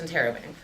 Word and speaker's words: interrobang: point question mark in either order but it's pronounced interobang uh thank you for coming this is uh